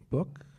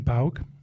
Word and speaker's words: Bauk: Well, how you tell me how it should be pronounced. My name is Bauk. Bauk.